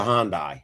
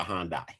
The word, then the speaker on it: Hyundai: Um it's a Hyundai. Here in America, it's called a Hyundai, but Yeah.